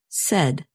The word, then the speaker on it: said: And notice that the past tense of say is pronounced said. You can remember this pronunciation by thinking of words that rhyme with said, such as red and head.